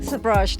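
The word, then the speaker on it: Sabrage: Today is the International Sabraj Day. Am I saying it right? Sabraj Day, yes.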